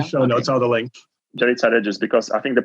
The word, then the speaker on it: Yaritza Reyes: So Yaritza's website is Yaritza Reyes.